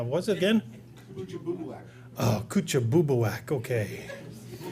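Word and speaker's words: Kouchibouguac: Oh, coocha bubak.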